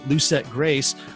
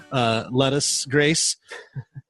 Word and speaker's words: Lucette Grace: So we are speaking with Chef Daniel Benjamin of Lucette Grace, or as incorrectly pronounced many times, Lettuce Grace.